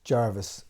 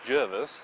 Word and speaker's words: Jervis: the issue is simple is it pronounced jervis as the spelling indicates or jarvis as most widely used by other media in australia do you say jervis